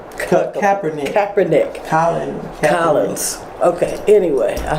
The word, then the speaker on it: Kaepernick: It's Colin Kaepernick. I had a problem pronouncing that.